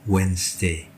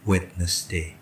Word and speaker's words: Wednesday: flash Day Hai kemudian banyak yang salah mengatakan hari Rabu dengan Wednesday the yang pertama tidak perlu kita baca jadi bacanya yang benar adalah whence whence bukan Wednesday segala the preposition yang dipakai